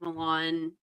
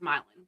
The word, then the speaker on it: Milan: We have a town that would be pronounced like Milan, like Milan, Italy. Milin. It's pronounced Milin.